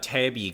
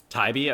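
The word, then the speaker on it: Taibbi: Now, this uh Tabby guy Tyibbe Tybee, I think Taiibbe. Okay, thanks. I'm just butchered that name completely.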